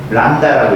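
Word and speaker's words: λ: 파장은 람다라고 읽어요.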